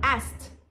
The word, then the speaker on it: asked: past tense ديال verb to ask اللي كيعني سأل يسألوا هو asked asked قولوا asked asked بلا ما تنطقو كي asked.